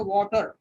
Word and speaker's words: water: Britishers थोड़ा सा उसको बोलेंगे वाटर वाटर वाटर वाटर, और वो ट का स्पेलिंग प्रोनाउंस करेंगे, लेकिन अमेरिकन उसको वाटर बोलेंगे.